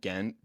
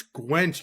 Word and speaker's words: Gwent: on these games, particularly, you know, it's not Gent, but they in Revelations, I'm about to I'm about to pull out a gun and shoot you through the screen. It's Gwent.